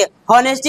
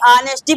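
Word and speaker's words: honesty: होनेस्टी नहीं ऑनेस्टी पढ़ेंगे।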